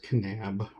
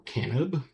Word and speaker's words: Kanab: I'm in a little town called Kanab. Some people call it Kanab or Canab. But around here it's Kanab.